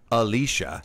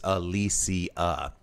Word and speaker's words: Alicia: It's not Alicia, not Alicia, she says with a shrug. It's Alicia. So there you go. Next time you run into her, you know how to say her name.